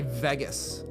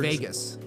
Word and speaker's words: Vegas: You say Vegas. Las Vegas. Yeah. Right. And how do you say it if you were Vegas. As if it were V-A-Y. Vegas. Real Vegas.